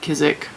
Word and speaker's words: Kizik: That's how you say it, Kizik.